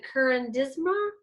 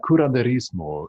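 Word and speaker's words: curanderismo: think would be the currandisma and you could probably pronounce that a lot smoother than i just did that's uh yeah kuranderismo in in spanish yes but which is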